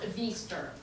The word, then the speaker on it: Veester: No, he is pronounced Veester.